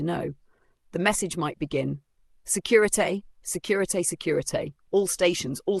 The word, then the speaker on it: Securité: And then there is securite, pronounced say cure e tay.